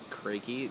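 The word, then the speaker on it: Kracke: I was pronouncing it Crack Street, but it's actually Crakey. K-R-A-C-K-E.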